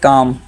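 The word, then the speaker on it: calm: हमारा दुरुस्त जवाब है काम लोग उसको कालम पढ़ते हैं कालम नहीं होता है एल साइलेंट होता है काम होता है ठीक है नंबर सिक्स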